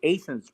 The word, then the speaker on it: Athens: t h NS Athens like Georgia but it's pronounced aens back here and he said what Terry I don't remember you at all but I do know if you say aens that you're from around St leis there you